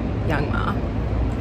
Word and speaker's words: Young M.A.: I just wanted to say song of the week is Hello Baby by Young Ma, or Young M.A., depending on, you know, how you say it.